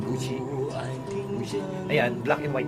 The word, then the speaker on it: Gucci: Tamang pronunciation, Gucci.